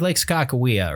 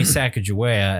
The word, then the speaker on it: Sacagawea: That's one of those, it's like Skakawea, right? Like some people are like, you know, it's supposed to be Sacagawea.